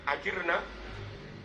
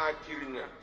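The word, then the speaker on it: أجرنا: Rabbi ajirna Min adzabik harusnya dibaca ajirnya ajirna tapi mereka bacanya ajirnya maknanya beda kalau ajirna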